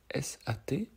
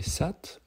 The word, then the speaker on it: Sat: Donc S-A-T. Donc on peut le prononcer Sat ou Sat, comme vous voulez.